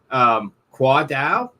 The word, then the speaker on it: Khoa Dao: So tonight we have a special guest with us, Khoa Dao.